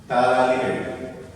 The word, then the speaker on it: phthalate: Phthalate, P silent here, ortho phthalate.